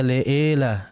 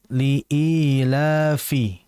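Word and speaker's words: لإيلاف: harakat liilafi liilafi dan dijelaskan pengucapan kasrah pada kalimat I jangan sampai Leah Liah Liah jangan yang betul liila liilafi diperhatikan di situ kemudian Quraisy qu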